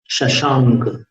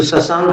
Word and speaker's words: शशांक: वक्तुम गुणान गुण समुद्र, वक्तुम गुणान गुण समुद्र शशांक कांतान। शशांक, इसको शशांक नहीं बोलना, शशांक।